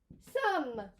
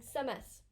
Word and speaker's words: sommes: We do not pronounce the ES. We're not saying somes. Okay? Some, almost like the sum total of something.